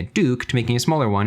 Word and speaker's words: DUK: the name too because he went from duk pronouncing a Duke to making a smaller